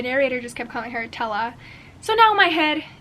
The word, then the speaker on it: Tella: So, okay, you do pronounce Thea's name Tella, and I have been saying Thea the entire time, again, because, you know, the Latin accent.